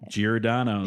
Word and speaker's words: Giordano's: Giordano's.